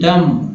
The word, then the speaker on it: dumb: लिखते हैं DUMB, डम, लोग डम भी पढ़ते हैं, डम, डम, डम पढ़ा, डम, डम्ब नहीं, डम, यहाँ तक होता है, यहाँ तक होता है।